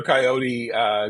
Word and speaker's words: Coyote: In New York, Peter Coyote goes to college. He takes peyote and decides to rename himself Coyote, rhyming with peyote.